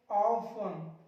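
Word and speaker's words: often: अगला देखिए EN से पहले, देखो ये रहा आपका EN, इससे पहले आ गया टी, साइलेंट कर दो, ऑफन, लिसन, शॉफन, हैसन, फासन।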